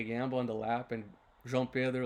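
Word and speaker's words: João Pedro: Jean Pedro, that's the right way to say it if you guys are wondering for the right Portuguese way of saying JP's name.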